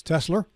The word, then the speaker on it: Tesla: Could you please pronounce these stocks correctly? It's Tesla and NVIDIA.